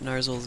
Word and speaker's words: Narzul: look, you got Narzul's name right. Well, he has the long U. Narzul. Like, if you've read any Tolkien at all, you know how to say the double U's.